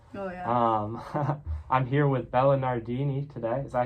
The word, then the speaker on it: Bella Nardini: I'm here with Bella Nardini today. Is that how you say it? Yep. All right. Bella Nardini.